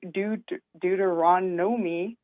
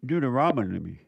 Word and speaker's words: Deuteronomy: Um I'm calling to read Duteronomi 225. I think I said it right this time. Deuteronomy.